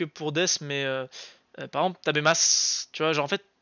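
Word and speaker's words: 食べます: vraiment, genre, à part si vous passez le verbe au passé, c'est-à-dire tabemashita, tu vas pas prononcer ton U. C'est-à-dire que vraiment, si tu manges, tu vas dire tabemas.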